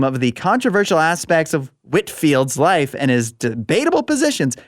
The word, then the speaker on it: Whitefield: Whitfield. Oh, it says Whitefield. Yeah, it's cuz he's like British or whatever. You know, they pronounce things weird over there.